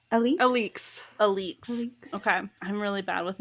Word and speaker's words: Alix: The other person we meet who was in that fire scene, her name is, I'm going to mispronounce it probably, Alexei? How'd the audiobook say it? Was it Alix? Alix.